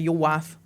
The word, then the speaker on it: Yorwarth: So, we've always had a thing like when I was younger, we'd just say ywath cuz that's how it's spelled.